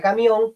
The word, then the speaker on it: camión: esdrújula es decir que la palabra camión como la fuerza cae en la voz que es su vocal tónica tiene como sílaba tónica guión y es una palabra aguda bien esto es lo